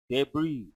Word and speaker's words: debris: airplane small parts then we use the word debris the letter s is silent write the word table